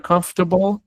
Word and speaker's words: comfortable: Miren la palabra comfortable. Comfortable. Esta es una palabra que a veces nos da dificultad pronunciar en inglés, porque a nosotros el español nos enseña que todas las letras se dicen. El inglés no es así. En inglés yo ignoro este esta parte. Comfor comfortable.